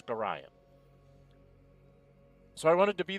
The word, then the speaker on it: Gorion: to be the one to deliver, and it's Gorion, folks. Gorion. I've heard so many people mispronounce that name. It's Gorion.